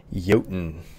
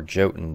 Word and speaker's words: Jotun: today we're in a game called yoton or jhoten depending on who you ask i'm pretty sure it's pronounced yotan anyways this is another